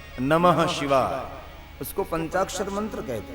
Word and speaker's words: नमः: ओम नमो शिवाय, ओम नमो शिवाय नहीं, नमो नहीं, नमः।